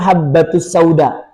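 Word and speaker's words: حبة السوداء: Tapi karena dia lagi modalnya enggak pakai guru, dia baca di situ huruf ba seperti berbayang. Jadi ada dua. Harusnya bacanya habbatus sauda.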